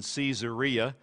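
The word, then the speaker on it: Caesarea: even of the Caesars some people pronounce the name even caesaria because it has Caesar right embedded in the name these soldiers maintained the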